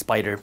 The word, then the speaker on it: SPDR: VOO is an ETF made by Vanguard, and SPY is an ETF made by Spider, SPDR, they're pronounced Spider.